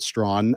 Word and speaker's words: Strachan: Yeah, I've got a friend in Medicine Hat that's a Strachan, but he pronounces it Strawn.